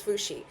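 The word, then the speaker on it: Fu Xi: I was right. It was Fushi.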